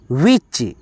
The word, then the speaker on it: witch: चलो WITCH, ठीक है दोस्तों, यहाँ पे टी साइलेंट है, पढ़ेंगे वी अच विच, क्या दोस्तों विच, ठीक है।